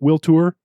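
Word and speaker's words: Toor: Is that how you pronounce it? Will Tour?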